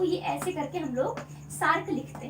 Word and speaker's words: SAARC: pronounce नहीं करते हैं वो उसको शार्क बोलते हैं तो ये शार्क जो समुद्र में मछली पाई जाती है वो वाली शार्क नहीं है ये शार्क है ठीक है सेब वाला सर है ये श नहीं है ये ठीक है तो